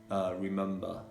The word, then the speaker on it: remember: also like for example in remember letter b comes after an m and even so it is pronounced and so remember member